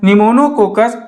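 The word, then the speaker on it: Pneumococcus: टुक तीसरा क्या है निमोनोकोक्कस यहां पीस साइलेंट होता है फिर माइक्रो कॉक्स इतने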